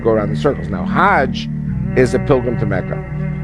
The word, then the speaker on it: Hajj: around the circles now Hajj is a pilgrim to Mecca Haag is the Egyptian pronunciation hug in Hebrew means